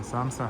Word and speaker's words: samsa: I didn't get a chance to read about this online, but I heard that it's similar to a samosa and it's pronounced samsa.